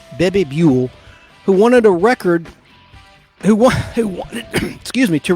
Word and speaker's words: Bebe Buell: model and would-be singer Baby Buell, I guess that's how you pronounce her name, B-U-E-L-L, Bebe Buell, who wanted excuse me,